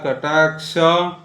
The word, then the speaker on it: कटाक्ष: है क्ष क्या बोलना क्ष क आधा बोलना है श का फिर बोलना है क क्ष क्ष क्ष क्ष क्ष और क्ष नहीं बोलना है क्ष हिंदी में क्ष हो सकता है लेकिन संस्कृत में क्ष क्ष क्ष क्ष